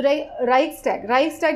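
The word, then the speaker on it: Reichstag: तो राइक्सटैग जिसका प्रोनाउंसिएशन है, राइक्सटैग जो है उसको बोला जाता है जर्मन पार्लियामेंट को। तो ये जर्मन वर्ड है, तो इसका प्रोनाउंसिएशन थोड़ा सा डिफरेंट है।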